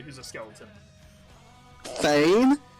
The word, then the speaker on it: Fane: Fane? No, actually, it's Fane.